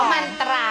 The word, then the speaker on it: มันตรา: จะ มา แว มันตรา มา อ่าน ว่า มันตรา เลย มันตรา เหมือน มนต มันต นี่ เจนนี่ รูบี้ เจน